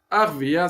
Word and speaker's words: Arvea: Donc, Arvea, c'est 2 syllabes.